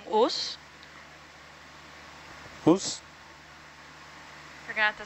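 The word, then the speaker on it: Ngchus: It's called Us. Us? You're gonna have to say how it's spelled.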